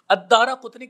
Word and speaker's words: الدارقطنی: آج ہم سمجھیں گے۔ الدارقطنی کا تلفظ ہے، دال کے اوپر زبر ہے، پھر اس کے بعد الف ہے، پھر اس کے بعد را کے اوپر زبر ہے، پھر قاف کے اوپر پیش ہے اور تا کے اوپر جزم ہے